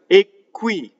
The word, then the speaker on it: qui: Not only that, there are words that are monosyllables, one-syllable words, that cause the next word, if it starts with a consonant, to double. So in this case, we have qqui.